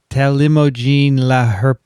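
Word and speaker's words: talimogene: well they had they tell you how to pronounce it here on on wikipedia telemogin i did it almost right uh there was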